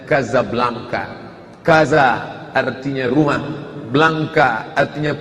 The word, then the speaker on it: Casablanca: dua ibukota kerajaan Maroko tulisannya Casablanca secara membacanya Gaza Blanca Gaza artinya rumah Blanca